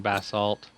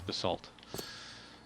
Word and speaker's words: basalt: a bunch of prismarine basalt or basalt however you want to pronounce it yeah it's basalt i can be a